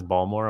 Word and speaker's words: Baltimore: they're from from Baltimore there's no T in is balmore I'm like yeah how